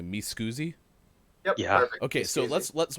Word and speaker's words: Mi Scusi: other one is am i saying it correctly me scoozy yeah okay so let's let's walk us through